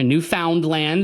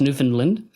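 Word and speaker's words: Newfoundland: And in the 1960s in Newfindland, and that's a place in Canada for people not familiar, new found land is how it's spelled, but it's New Finland.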